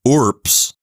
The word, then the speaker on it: urbs: it as voiceless so ORS is how you would say this word as if it were spelled urps why is that I